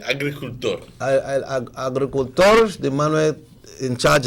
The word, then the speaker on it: agricultor: How do you say it? Agriculturador? El agricultor.